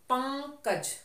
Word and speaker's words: पंकज: पंकज। सबसे पहले उच्चारण देखिए, ओके बाद हमें उंग निकालना है। तो हमने क्या पढ़ा? पंग।